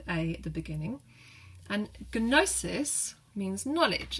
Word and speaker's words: gnosis: at the beginning, and gnosis means knowledge. It's why you've got that silent K at the beginning of know, or knowledge in English, because it came over from that G-N sound.